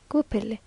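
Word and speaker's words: huepilli: When they are married, they add a white embroidered veil, and a remarkably pretty coloured mantle, the huepelili, which they seem to pronounce gupili.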